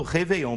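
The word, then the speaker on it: réveillon: e com o acento a gente vai continuar falando reveon por quê Porque no francês o acento não é igual na Língua Portuguesa que é pela sílaba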